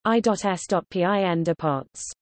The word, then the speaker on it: ESPN Deportes: ESPN Deportes, Spanish pronunciation, I.S.PIN Deportes, ESPN Sports, is a subscription television network that